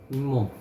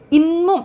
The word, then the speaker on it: 잇몸: 잇몸. 잇몸 이렇게 발음 나지. 그치? 잇몸 이렇게 발음 나죠. 니은 소리가 덧나지.